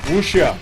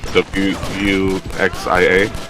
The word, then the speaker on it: Wuxia: I'm gonna try my best to pronounce this. Wuxia? Wuxia? Wuxia. W-U-X-I-A?